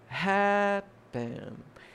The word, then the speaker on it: happen: Que nem o verbo happen, a sílaba tônica é a primeira, happen.